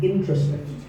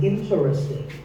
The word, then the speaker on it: interesting: Word number 11 is interesting. This is mispronounced sometimes as interesting, but there are only 3 syllables.